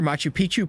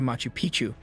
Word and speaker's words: Machu Picchu: For Machu Picchu, Peru, when a place rhymes with picture, you can almost bet it will always give breathtaking images every time.